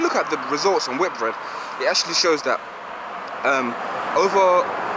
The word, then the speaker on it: Whitbread: It's actually pronounced Whitbread, and the performance was relatively decent.